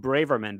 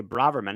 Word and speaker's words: Braverman: I was saying Braverman, but it's actually Braverman, isn't it?